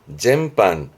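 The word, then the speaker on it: 全般: 발음은 젠반.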